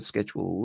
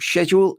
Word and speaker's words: schedule: And I can bring up the schedule there, or schedule if you are American and don't like us pronouncing the C.